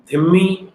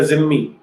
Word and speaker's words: धिम्मी: से चर्चा करेंगे कि जो शब्द धिम्मी या जिम्मी, दो ढंग से इसे प्रोनाउंस किया जाता है। जो मूल अरबी है वहां पर तो धिम्मी कहते हैं, लेकिन यहाँ हमारे क्योंकि उर्दू का ज्यादा प्रभाव है इसलिए इसे जिम्मी कह दिया जाता है।